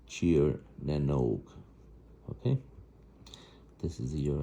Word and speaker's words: Tír na nÓg: That's pronounced Tír as in cheer for a team.